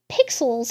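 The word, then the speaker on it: Pyxll: here we have a head and this is pixel's head and it's spelled as P YX l l it's pixel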